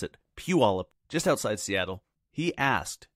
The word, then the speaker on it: Puyallup: Rory Pitt's a real estate agent in Puyallup Washington that's right Rory I can pronounce it Puyallup just outside Seattle he asked a great question